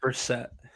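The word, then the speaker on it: Brissett: Jacobe Brisket is actually really freaking good. Or Bruce, how you say his name? Brassette.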